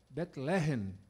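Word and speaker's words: בית לחם: do Pão né Eh a pronúncia de Belém é bet betlehem a pronúncia deles lá lá né no no no no no hebraico né E por que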